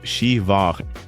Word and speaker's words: Siobhan: Take the name Siobhan, which is pronounced Shiva or Nia, pronounced Nev.